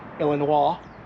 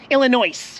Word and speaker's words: Illinois: through Missouri, and then Illinois. Did you know that the S is silent in Illinois? No, I didn't. I just do it to piss people off. I'll get a bunch of comments. Illinois, okay?